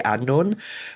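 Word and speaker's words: Annwn: So most people with a passing interest in mythology will probably say Andor, but those of us who are diehard geeks who like delve into this stuff for a living, we will usually say Andorphan.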